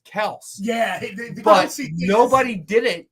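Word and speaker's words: Kelce: dad on, and it is supposed to be pronounced Kels. Yeah, but nobody did it. That eventually the whole family just it's Kelsey.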